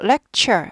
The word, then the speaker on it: lecture: 아아 티어 하지 않고 lecture 발음나요 그래서 한국말로 쓰면 안 되지만 티 발음이 치 발음처럼 되는 거죠 예 그래서 뭐예요 발음이